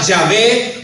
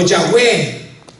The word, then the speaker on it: Yahweh: Pero a pesar de que desconocemos su verdadera pronunciación, hermano, la mayoría de los estudiosos nos dicen que posiblemente la pronunciación sea Yahvé o Yahweh.